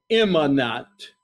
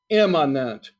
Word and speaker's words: immanent: Immanent. Immanent. Let me spell it. I-M-M-A-N-E-N-T.